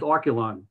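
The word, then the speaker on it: Archelon: have the you know to say how it's pronounced as oculon you know uh so that was one of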